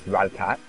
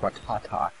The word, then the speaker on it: Rattata: I asked a question, episode 1, how to pronounce Rattatat. Or as I've been saying, I've been saying Rattatat all along. But thank you to a friend who watched this video. Supposedly it's actually pronounced Rattatat.